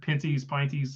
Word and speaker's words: Pinty's: The Piney Series runs there. Pinty's. I keep saying it wrong.